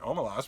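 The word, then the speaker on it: Omelas: and ursula leguin said i pronounce it omalas but you can pronounce it any way you like but she was she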